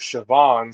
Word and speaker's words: Siobhan: Siobhan, or Chevin, or how Coach Brennan, I believe we heard, he said Chevin. Sky told us Siobhan, so basically Chevron without the R.